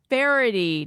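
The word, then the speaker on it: Faherty: that's called bff at farity now it might be spelled different than you're imagining so i'm going to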